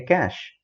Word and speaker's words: cache: cache memory whenever you're pronouncing it we simply pronounce this as a cache from the cache memory the information will be